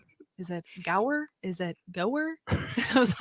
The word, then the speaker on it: Gower: guest on today and his name is Brian go I hope I did not completely like just brutalize your last name there Brian did I say it right it was perfect thank wonderful nailed it